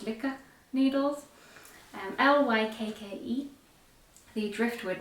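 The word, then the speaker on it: Lykke: and i used um i like the way andrew mary says lucca but i think it's actually pronounced liquor needles and l-y-k-k-e the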